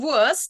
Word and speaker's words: Wurst: The pronunciation is not only Wurst, but Wurst. The ST pronounced like a sh.